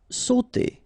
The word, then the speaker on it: sauter: Sauter. Okay, combination of A and U together will produce the sound O.